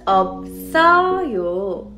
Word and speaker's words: 없어요: But here, there are two 받침s. Do you see it? B and S. In that case, you would just pronounce B as a 받침 and you would carry over the second 받침 to next door. So it becomes 없어요.